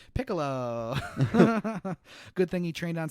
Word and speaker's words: Piccolo: now because of what political that's that's uh that's not how you say his name Piccolo good thing he trained